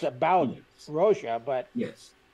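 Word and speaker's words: Rózsa: Oh, it's he always says it's Hungarian, and Zsa Zsa Gabor was Hungarian, and he said it's pronounced like Zsa Zsa because it's a ZSA.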